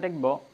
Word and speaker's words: the: এখন এটার উচ্চারণ হবে দি।